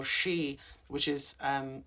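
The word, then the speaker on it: sidhe: near what we call shei, which is um spelled s i d h e but pronounced she, those are considered lands of sacred meaning.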